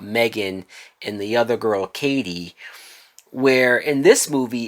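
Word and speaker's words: Cady: I keep wanting to say Caddy the way that her name is written, but it's pronounced Katie like in Mean Girls. It's Katie.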